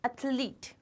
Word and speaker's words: athlete: It is athlete. Athlete. It is ath and leet.